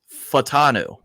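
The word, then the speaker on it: Fautanu: the time Troy fanu and I had been saying his name wrong the whole time I was shingy Troy fanu and it's fanu fanu and listen it's weird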